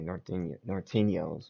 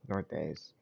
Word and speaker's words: Norteños: Just say Nortes, because Norteños is annoying. I don't think that's how you. I never heard no one say it like that. So that's how you know you're not from Cali when you say Norteños when it's Nortes.